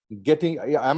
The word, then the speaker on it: Getinge: Nirmal Shah is Director of Finance for Geting Medical India. Geting, am I pronouncing it right, Mr. Shah? It is Geting A, Geting. It's getting. Getting. Getting gay.